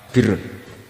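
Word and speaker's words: بِرّ: Ya kalau di isim fa'ilnya umumnya guru-guru kita baca barin, tapi untuk masdarnya, untuk kebaikan bacanya apa? Birun. Nanti kamu protes, oh barun itu daratan Gus, kalau birun itu kebaikan.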